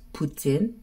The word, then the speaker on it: poutine: wanted poutin he got poutin he enjoyed it and I'm sorry but some people are going to correct me it is actually pronounced Putin um because it is I believe French um so yeah I'm